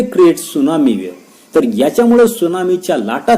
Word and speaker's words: tsunami: Sixth आपल्याला दिलेले की there is the earthquake at the bottom of the ocean it may create सुनामी. Spelling नीट लक्षात ठेवा, टीचा उच्चार त्या ठिकाणी सायलेंट आहे, TSUNAMI.